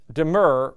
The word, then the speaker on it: demur: claim by the way be sure to pronounce deur with two syllables and without palletizing the u the legal term deur